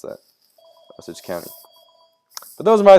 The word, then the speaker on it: Osage: August Osage County was, ugh, jeez.